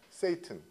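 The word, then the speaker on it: Satan: 사탄 하고 좀 틀립니다 사탄도 영어 발음은 뭐예요 세이튼 세이튼 중과 사탄 하고 노 세이든 그렇게 얘기하 세이든 바로이 사탄이 세트이에요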